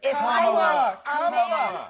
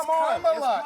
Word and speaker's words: Kamala: Let me actually pronounce her name right. Kamala Harris. Kamala. You said this we don't call you Nancy Mace. It's Kamala.